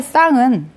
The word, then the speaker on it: 상: 자, 밥상에서의 쌍은, 자, 얘는 왜 밥상이 쌍이라고 발음이 됐어? 그치? 된소리 되기죠.